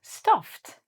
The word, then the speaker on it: stuffed: We add an ED to this guy and it becomes stuffed. Again, we have to change it to a T.